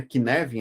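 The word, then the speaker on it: Cynefin: Bom, o Kinevin se escreve desse jeito, a gente pronuncia Kinevin, né? Como se trocasse o C pelo K, o F por um V, é o Kinevin.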